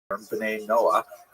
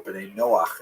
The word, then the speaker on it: B'nai Noach: And this is basically a Hebrew term, B'nai Noah, or B'nai Noach is the way Jews would pronounce it.